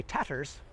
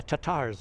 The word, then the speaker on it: Tatars: Crimean tatars Tatar people I didn't say tatters the European Union no the Russian economies and tatters no the tatars I guess I should say should pronounce it better so the tatars um